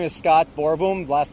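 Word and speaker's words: Boerboom: yes all right oh my name is Scott borom last name is spelled b o e r b o o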